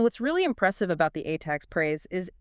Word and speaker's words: ATAGS: You mentioned the ATAGs and the NAMI systems. Right, so the ATAGs parade, which is pronounced ATAG.